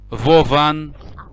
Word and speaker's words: Vovan: Their name are Vovan and Lexus.